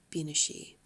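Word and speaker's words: bean sí: became anglicized eventually to banshee instead of bina she I believe that's how you're pronouncing it and over time the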